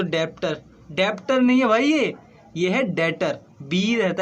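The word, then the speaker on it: debt: doctor नहीं हुआ यह बैटर बीच रहता है इसमें साइलेंट ठीक है बे साइलेंट रहता है इसे बैटर ही बोलते हैं तुम लोग मतलब शुरुआत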